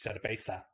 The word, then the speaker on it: cerveza: So like the word for beer is cerveza, but it's cerveza. That's how it's pronounced.